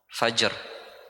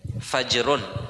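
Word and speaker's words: فجر: Bacanya fajrun ya. Bukan fajar. Fajar P ya Indonesia itu fajar kalau sudah berubah jadi orang Indonesia. Kalau orang Arab ya fajar. Hm. Fajar kalau pindah ke Indonesia jadi fajar.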